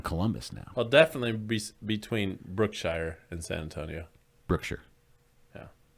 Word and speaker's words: Brookshire: But if I've been to Brookshire and talked to the people of Brookshire, I know it's pronounced Brookshire.